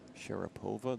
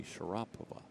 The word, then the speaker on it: Sharapova: They're telling me that the way we pronounce Maria Sharapova, the tennis player, is actually wrong. It should be Sharapova.